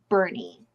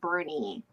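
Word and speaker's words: Boerne: I'm seeing is that it's like spelled like born but it's pronounced Bernie oh okay okay so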